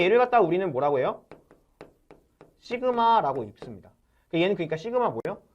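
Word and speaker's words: σ: 시그마라고 읽습니다.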